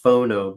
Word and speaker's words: Fauxknow: We've got a band called pronounced Phono, but it's actually spelled Fauxknow, as in fake knowledge or false knowledge.